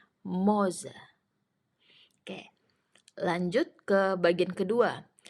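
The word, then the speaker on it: morze: yang pertama tulisannya morza Tapi kalau dalam bahasa Polandia tadi kan kalau ada RZ r-nya enggak dibaca jadi cara membaca yang benar adalah moze moze Oke lanjut ke bagian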